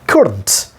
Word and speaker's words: couldn't: On the sound ka, there is a main stress given. Sound ka. Then u, then da, then schwa sound has been used here. You may pronounce or may not pronounce, no problem. Kūd is the na sound and ta sound. So kūdnt.